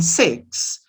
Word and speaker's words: six: letter represents two sounds the letter x in six is two sounds like the song and the sounds ca six so we have three